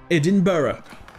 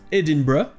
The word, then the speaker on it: Edinburgh: les deux prononcés barras edinburg donc en anglais britannique se prononce edinburgh et en anglais américains se prononcent edinburg donc voilà pour cet